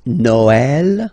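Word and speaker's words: Noël: you will have to you will have to pronounce it like e okay like for instance noel okay but then in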